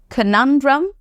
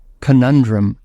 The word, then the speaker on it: conundrum: word what is this so is the pronunciation canundrum no it is is canundrum canundrum we'll be going once again listen to this very attentively canundrum conundrum right so what does it